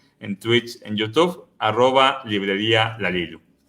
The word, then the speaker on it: La Lilu: Yo siempre he tenido la duda, muchos le dicen La Lilu y otros La Lilu. ¿Cuál sería la pronunciación correcta? Bueno, como no tiene tilde en la U, correcto, es La Lilu.